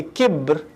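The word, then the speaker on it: كِبْر: That's why, for example, in the Arabic language, we say kibar, growth. وَقَدْ بَلَغَنِي مِنَ الْكِبَرِ عِتِيًّا, growth, development. But when you take the haraka away from the word and you say kibr, it becomes arrogance, because the arrogant is stagnant.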